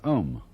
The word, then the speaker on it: om: mantras is of course the sound om that sound is used because if you spell it out a u m it runs from the back of your throat to your lips and therefore it contains the whole range of the voice and for that reason